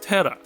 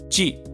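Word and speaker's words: 寺: As the result, Japanese Kanji is sometimes pronounced the native way, “tera", known as Kun'yomi, and sometimes the Chinese way, "Ji", known as On'yomi.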